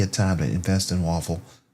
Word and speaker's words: Woffle: WOF is the actual ticker symbol, but it's spelled WOFFLE, Waffle.